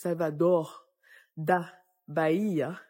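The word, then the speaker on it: Salvador da Bahia: Salvador d' Baia avec avec la prononciation c'est pas Salvador c'est Salvador da Baia da BAA euh par exemple j'ai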